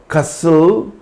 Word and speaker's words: castle: For example, castle, apostle, hustle, bustle, whistle, wrestle or wrestlers, thistle, nestle, etc.